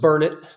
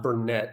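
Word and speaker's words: Burnet: Now, it's pronounced Bernett. And the saying locally goes, it's Bernet, Burn it, can't you learn it? Okay, a little bit of a play on words. It is definitely not Bernett.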